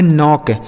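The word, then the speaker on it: knock: यहां के के साथ एन है तो के साइलेंट होगा। इसे पढ़ेंगे नॉक।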